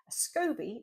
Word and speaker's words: SCOBY: Um, scobby, that's spelled S C O B Y, stands for a symbiotic culture of yeast and bacteria or bacteria and yeast.